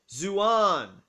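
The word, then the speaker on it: ζῷον: zohar a plural nominative neuter noun meaning animals pronounced zouan for a single animal as in verse 7.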